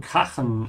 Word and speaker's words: krachen: It has a crashing sound in the middle of it. Also pronounced like with a vibration because it comes after a. So this is like Nacht or Nach.